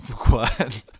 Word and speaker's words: Fuqua: I like to put on record that the two white guys recording this podcast both knew how to pronounce Antoine Fuqua.